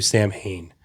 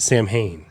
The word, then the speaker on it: Samhain: They did, and oh my God, Jim Cornette, this motherfucker will not stop calling the pay-per-view Sam Hain. How do you pronounce it? Samhain. It's pronounced Because Samhain.